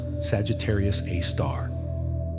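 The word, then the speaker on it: Sagittarius A*: The Milky Way's super massive black hole named Sagittarius AE pronounced Sagittarius A star is located at the center of our galaxy about 26,000 lightyear away from Earth.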